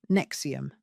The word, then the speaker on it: NXIVM: In 2011, Catherine brought her daughter India, then 19, to a workshop in California hosted by a company called NXIVM, pronounced like Nexium.